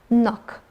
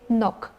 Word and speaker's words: knock: Here CK always is pronounced like K, knock. And here when we use K and N together, in this case we don't pronounce K because K is not pronounced here. So that's why we say knock.